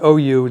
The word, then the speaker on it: Auriou: that's how it's pronounced you see how it's spelled but it's pronounced oh you this is a number 10.